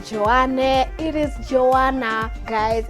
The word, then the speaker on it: Joanna: there you know it's Joanna j o a double n a why is it that people always like disregard the last letter Jo it's not Joan